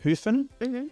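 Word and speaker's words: Höfn: is a city called Hofen, or I think it's pronounced Hufen.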